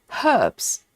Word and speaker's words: herbs: Um Michelle says Marsha uh Martha Stewart says herbs purposely with H sound. I thought she was so pretentious. No, she was just pronouncing the word as it is.